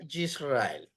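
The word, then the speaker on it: יִשְׂרָאֵל: de en la segunda no se pronuncia Por qué Porque está seguido de una vocal corta que es una ir correcto Entonces omitimos el sonido de ese y ahí diría yisrael o sea Israel yisrael interesante verdad otro ejemplo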